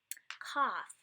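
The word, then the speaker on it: כף: Kaf. Kaf occurs in multiple forms. It could occur with a dot, or with the dagesh, and it's a strong K.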